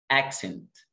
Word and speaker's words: accent: الكلمة اللي بعدها accent. accent accent. طبعا الناس اللي عارفه اللي واخدين كورس الفوكس عارفين السي سي اللي هنا قلنا الاولى ك والثانيه س. accent.